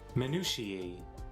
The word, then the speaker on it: minutiae: How do you pronounce it? Minutiae.